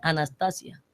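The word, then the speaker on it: ἀνάστασις: En otros programas le decían, resurrección es una palabra transliterada, pero en griego se pronuncia anastasia.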